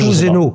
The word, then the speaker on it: Tuzeno: as citée, qui s'appelle Tuzeno. Je prononce à la française. Tuzeno.